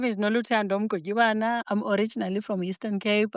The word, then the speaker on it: Mgotyibana: Sorry, how do you pronounce it? Mgotyibana.